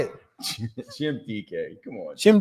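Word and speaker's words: Dike: Jim DK. Come on. Jim DK.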